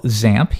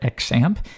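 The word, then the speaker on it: XAMPP: at something we call zamp you might hear some people call it xamp either one really works there's no official pronunciation but most people do zamp and you'll see actually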